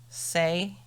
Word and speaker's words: Hsieh: It's spelled Hsieh. Say.